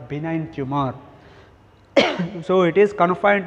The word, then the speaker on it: benign: benign tumor and malignant pronunciation benign benign be ni gn benign tumor and malign tumor what